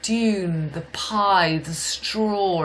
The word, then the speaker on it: paille: That's how you pronounce straw in French, P-A-I-L-L-E. It's pie is your pie.